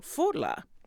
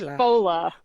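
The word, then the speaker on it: Fódla: She currently performs with Portland, Maine, and Boston Irish music trio Fodla. Is that right? Did I pronounce that correctly? It's more Irish. It's Fola.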